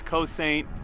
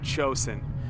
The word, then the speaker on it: Cosaint: I know it sounds like it says Cosaint, but it is Gaelic and it is pronounced Cosaint.